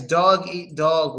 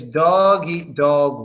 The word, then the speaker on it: dog eat dog: you got it yeah it's dog eat dog world it's doggy dog world it's yes it's a